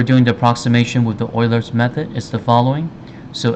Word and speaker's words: Euler: so the euler's method so this one the pronunciation is called euler not euler so you might be wondering why